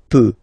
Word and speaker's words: peux: So the first form that we'll have is je, as usual, so je peux, okay? Final x not pronounced here, okay? So you've got x, but you don't pronounce it, so basically you get the sound peut, je peux, okay?